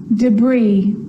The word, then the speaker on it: debris: Now an S can also be silent. And I know that you've already struggled with this one. Island. Island. Debris. Debris. And aisle. The bride walked down the aisle.